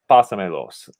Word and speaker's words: pásamelos: to last syllable, but we say no, we actually want to keep it at the first syllable of the verb, like pásalos, pásamelos, or háblame.